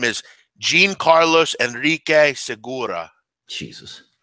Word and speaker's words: Jean: But pronunciation for Jean Seagura like blue jeans.